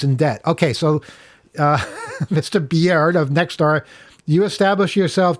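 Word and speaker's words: Biard: It's spelled B-I-A-R-D. I think Beard is the only way to pronounce that.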